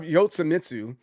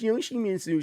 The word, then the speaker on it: Yoshimitsu: All right, now we have Yotsumitsu. Some people out there are like, don't you want to say his name the right way? It's Yoshimitsu. Shut up.